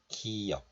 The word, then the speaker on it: 기역: But when you pronounce this last sound in Korean, you don't release the sound fully, like 기역 or 기역. You just have to close the syllable, like a glottal stop.